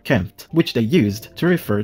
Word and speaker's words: Kemet: Kemet on my channel the term Kemet is indeed a conventional agreed upon pronunciation of the ancient Egyptian term kempt which they used to